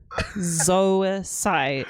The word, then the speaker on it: Zoisite: It's the same because OI and OY say oi. Zoisite is known as zoisite. It's the same. It's, well, okay. So it is ZOISITE, but in the DIC Dub it's ZOYCITE. But it's pronounced the same.